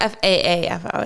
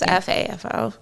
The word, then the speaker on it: FAFO: But it's not FAAFO. It's FAFO.